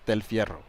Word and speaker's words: Del Fierro: Goldberg or Rogan is pronouncing my last name so every time what they say I don't know what they're saying but it's Del Fiero Del you prefer him